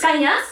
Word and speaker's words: Kanas: never happens in Australia it's Kanas not can I have to feel